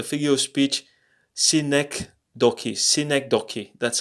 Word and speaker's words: synecdoche: was about the figure of speech scenic Doki synecdoche that's how it is pronounced and what is a cynic talkie that's